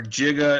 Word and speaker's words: giga: 10 to the 9 giga or jiga as they pronounce it in back to the future and 10 to the